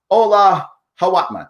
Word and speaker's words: Ola Hawatmeh: The person herself, the amazing Ola Hawatmeh.